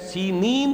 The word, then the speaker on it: سینین: صحرائے سینا، یہ ہے، سینین اس کا تلفظ ہے، یہ جمع کا صیغہ آیا ہے، اور عبرانی میں اس کو سینین کہتے ہیں۔ عربی زبان میں یہ